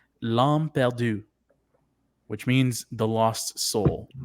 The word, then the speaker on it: L'Âme Perdue: So I did take 4 years of French to help me kind of pronounce it right. The title is called L'Âme Perdue, which means the lost soul, which we're assuming it's Daryl.